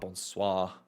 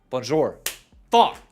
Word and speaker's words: bonjour: It's not bonsw, is it? No. What's bonis? Bonjour.